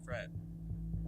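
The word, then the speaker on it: crêpe: Well, the pronunciation is crepe. But Emily and I say it crap, so.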